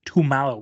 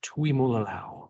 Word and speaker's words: Tuimoloau: I think this is where JT Tumalo goes. I know I said his name wrong. It's a great pick for him. JT Tuimoloau.